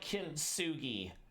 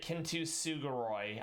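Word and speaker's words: Kintsugi: She's talking about Kintugi. I don't know why she pronounces it Kinusoy.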